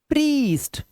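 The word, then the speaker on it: priest: अब इसे पढ़िए: 'field', 'thief', 'field', 'प्रीस्ट', 'wild', 'brief', 'brief', लंबा स्वर। ठीक है? जब किसी शब्द के मध्य में 'i-e' आता है, तो 'i-e' का उच्चारण 'ee' की तरह किया जाता है।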